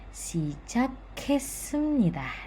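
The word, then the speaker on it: 시작했습니다: "Yeoseot-si-e sijak-haet-seumnida". Di sini “kiok” bertemu dengan “hieut” menjadi “kiak”, “ sijak-haet-seumnida”.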